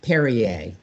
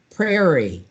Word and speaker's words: Perrier: So years ago, my mother really loved Perrier, the sparkling French water, but she couldn't say it. She would say Perrier, prairie, par. And it's like, Mom, like it's 2 syllables.